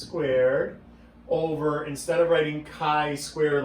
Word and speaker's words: chi: So chi-square is pronounced chi, even though it looks like chai.